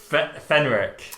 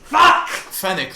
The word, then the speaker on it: Fennec: say her name wrong fenric fennec fennec fennick like the desert fox yes well pathetic yeah